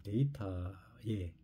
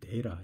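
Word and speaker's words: data: 수 없지 않습니까 그러니까 데이터의 시대다 뭐 미국식 발음 데라 이렇게 발음을 합니다 TV 무음이 그냥 우스게 소리를 하는 얘기입니다 영국식 발음 데이터 이렇게 하지만 어쨌든이 영어도 발음이 차이가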